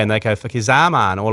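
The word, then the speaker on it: Fakhar Zaman: Because I love Fuck is a man because that's how you say his name, Fuck is a man.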